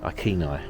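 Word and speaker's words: Iceni: yeah not quite a yep something like that aeni aeni so we have lots of information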